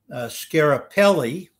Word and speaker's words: Schiaparelli: An astronomer whose name is difficult for me to pronounce, but I believe the pronunciation of his name is Schiaparelli in 1888.